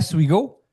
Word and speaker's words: Suigo: Donc Souigo, bienvenue au podcast. Bonjour. Super bien de prononciation de mon de mon nom de famille.